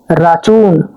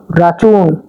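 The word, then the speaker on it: račun: বিলকে বলা হচ্ছে রাচুন। রাচুন।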